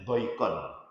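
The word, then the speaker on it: ضَيْقًا: Qara al-aksarun bitasdid, kebanyakan para ahli baca Quran, ulama ahli Quran membacanya dayyiqan dengan tasdid, dayyiq. Kalau Ibnu Katsir membacanya doikon, doikon.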